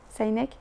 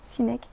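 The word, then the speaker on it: Sinek: cercle d'or de Simon saineek sineek je prononce à la française le cercle d'or c'est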